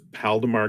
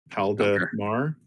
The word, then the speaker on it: Paldemar: And this Paldemar guy is spelled the way that it sounds. Paldemar. Paldemar. Okay.